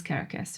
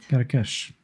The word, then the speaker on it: Karakash: Your name is Thomas Carcass, right? Karakash. That's how you say it in Hungarian.